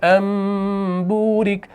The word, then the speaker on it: أَن بُورِكَ: رکھیں، فَلَمَّا جَاءَهَا نُودِيَ أَن بُورِكَ، تو یہاں پر دیکھیں میم چھوٹا سا بنا ہوا ہے، تو اس نون ساکن کے بدلے میں ہم اس میم کا تلفظ کرتے ہیں، یہ ہوتا ہے اقلاب۔ أَن بُورِكَ مَن